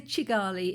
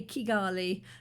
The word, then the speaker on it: Kigali: Because sometimes you will hear people say Chigali. It's quite rare. It's usually a hard K, Kigali, but Chigali, you've heard that a lot.